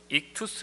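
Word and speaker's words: ΙΧΘΥΣ: 아니고요 어 헬라어 입니다 이것을 어 이투스 라고 이렇게 발음합니다 5가지 다섯 개의 단어가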